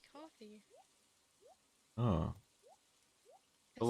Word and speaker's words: Ko-fi: How do you pronounce that? I say Kofi. That's what I say too. Or Yeah, Ko-fi. But yeah. then it's like I think it's really just supposed to be coffee.